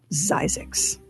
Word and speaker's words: Zzyzx: last word in health using the last three letters of the alphabet ZZ y ZX Springer Christen his new town and he pronounced it zyx we must never ask